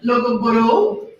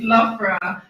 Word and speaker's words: Loughborough: So it's Loughborough. So an easy way to remember is laugh. You laugh, and then female well bra. So it's female underwear.